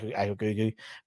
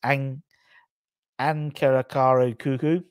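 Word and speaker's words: Ankaragücü: No, it's not Akrakugu, but it's Ankarakaru Kuku. That's definitely pronounced wrong, in the Turkish Super League on Sunday.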